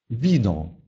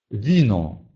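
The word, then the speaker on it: wino: Перед «и» буква «ву» читается мягко. Например, «вино», «вино», «вино».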